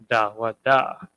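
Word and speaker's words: דוד: David himself whose name in the ancient Hebrew and I'm gonna write this in English just so you can kind of get how it's pronounced dawada so if it has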